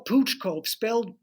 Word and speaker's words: Pouch Cove: Yeah, well, Pooch Cove, Pouch Cove. spelled Okay. pouch, pronounced pooch, and no one really knows Okay.